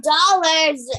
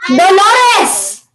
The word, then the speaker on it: Dolores: No, it's not dollars. It's called Dolores.